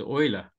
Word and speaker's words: Euler: Yeah, I don't know how his name's pronounced. Is it Euler or Euler? I think it's Euler.